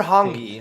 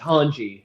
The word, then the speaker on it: Hanji: pronounce her name um i heard honky honky because i read it first i pronounce it yeah but then then the manga and the anime it's hanji hanji which makes which makes